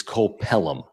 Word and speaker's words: Cole Pelham: I think the pronunciation, because I listened to Jesse Agler say it, is Cole Pelham, who is the prospect